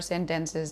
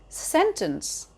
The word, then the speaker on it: sentence: Sentence rather than sentence.